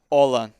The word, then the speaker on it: Aulin: Olan. They say it differently, but it's actually Olan.